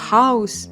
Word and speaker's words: house: це звичайно не все я ж іще слова типу House Cloud і там о читається Ні як ніщо інше як AU точно що дуже-дуже і нам